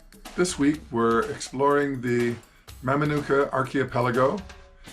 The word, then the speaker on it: Mamanuca: This week we're exploring the Mamanuca archipelago. The local Fijians tend to call it Mamanuca. They sometimes change the way things are pronounced just because it sounds better.